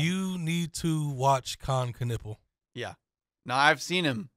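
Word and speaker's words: Knueppel: Knipple? Con Knipple. Knipple. And that's weird. How they pronounce it. Okay. I thought it was Knipple.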